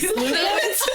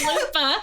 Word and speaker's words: Lupa: Did I say it wrong? Lupus. What is it? It's Lupa. Lupa.